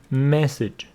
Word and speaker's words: message: So, once again, the pronunciation, massage, message. Stress on the second syllable, massage. Here, first syllable, message.